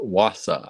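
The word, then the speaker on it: Wasa: Marion says pronounced wassa.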